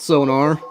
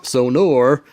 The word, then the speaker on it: Sonor: and the sonar kit not sonar sonor I made fun of